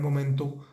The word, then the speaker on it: moment: el verbo era o fue era en ese momento en el que se habla fue o era un momento tranquilo aible cesible fijémonos que la palabra